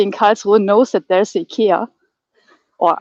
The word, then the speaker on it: IKEA: Of course, everybody in Karlsruhe knows that there's IKEA, or IKEA, to pronounce it properly.